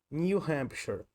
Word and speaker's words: New Hampshire: Nesse caso, a pronúncia desse nome desse estado é New Hampshire. New Hampshire.